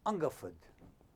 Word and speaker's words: Hungerford: Through the night, the next morning we landed at a place called Hungerford, pronounced Ungerford.